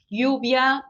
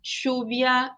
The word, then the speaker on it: lluvia: E os dois L's também vão ter diferentes pronúncias, como, por exemplo, lluvia, lluvia, lluvia, chuvia, lluvia. Então, também varia.